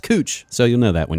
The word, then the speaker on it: Couch: I told you our street that's spelled like couch here is pronounced cooch, so you'll know that when you come visit Portland.